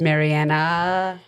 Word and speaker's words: Marianna: Instagram, my handle is it's Marianna.